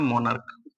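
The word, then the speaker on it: monarch: Stomach पढ़ते हैं, और इसका प्रोनाउंसिएशन होता है मोनर्क, है ना, मोनार्क।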